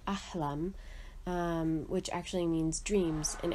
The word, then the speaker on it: Ahlam: My sister-in-law, her name is Alam, which actually means, and pronounced in Arabic, is actually Ahlam, which actually means dreams in Arabic.